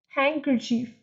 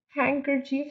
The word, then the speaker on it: handkerchief: Handkerchief, Handkerchief, so D is silent.